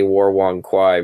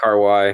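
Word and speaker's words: Wong Kar-wai: Okay, so Fifth Element, The Matrix, Castaway, and any War Wong Kwai movie. Is that how you pronounce his name? Like one car Y or Wong something. Kar Wai.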